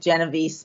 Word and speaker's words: Genovese: In the United States, my husband's family pronounces it Genovese, but either way is fine.